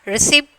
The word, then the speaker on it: receipt: Receipt, P silent letter.